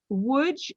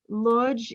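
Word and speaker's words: Łódź: but one simple question would versus lodge so which is the polish pronunciation lodge is how we would say it in yiddish in english and now we have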